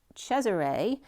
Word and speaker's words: Caesar: and Caesar is as actually pronounced chesar which is the sheay